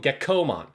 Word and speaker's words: Gekkomon: So he's a little gecko, and you have to call him Gekkomon. You have to extend that vowel out, because there's already a Digimon from the original Digimon called Gekkomon that's a little gecko